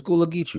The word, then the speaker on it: Gullah Geechee: It's Gullah Geechee, right? That's how you pronounce it.